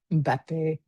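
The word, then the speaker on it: Mbappé: because I know Cristiano Ronaldo and Neymar and Mbappe.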